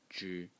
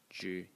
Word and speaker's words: 之: So in this presentation, we're going to talk about a character which today is pronounced zhi, zhi in the first tone.